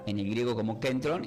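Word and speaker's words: κέντρον: Y esta palabra del griego, ya que el Nuevo Testamento se produce como kentron con acento en la e.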